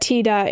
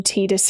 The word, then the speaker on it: Tidus: If you can pronounce the word Tida in your native language, then there is no excuse to call him Tidus in 2026.